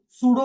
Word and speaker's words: pseudo: पी एस ई यू डी ओ सूडो बोलते हैं इसको और यह सूडो क्लासेस होती हैं।